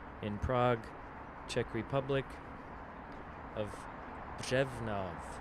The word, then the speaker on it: Břevnov: And today we're going to be investigating the district in Prague, Czech Republic, of Břevnov. It's got that R in it, which is really difficult for us foreigners to pronounce. Břevnov.